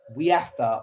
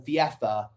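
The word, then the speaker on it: Wieffer: Diego Gomez has given the ball to Matt Viefa or Viefa. I think that's how you say it when using Dutch pronunciation.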